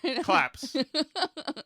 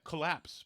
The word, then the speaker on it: collapse: Clapse. Like golf claps. What do you call it? A collapse? I call it a collapse because it's a collapse. There's a C-O-L there that needs to be Okay.